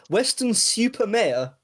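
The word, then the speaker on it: Weston-super-Mare: You have to pronounce that Rick Male. Western Super Mayor.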